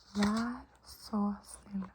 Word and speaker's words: Vær så snill: Vær så snill. Vær så snill. Vær så snill.